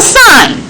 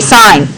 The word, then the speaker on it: sine: That's still sine. No sinning allowed. Okay? I'm sorry. I know that you were excited to sin all the time, but you must say sine.